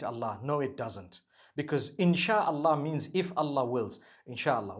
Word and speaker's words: insha Allah: inchi means to create no one says inshi Allah they say insha Allah that's what it is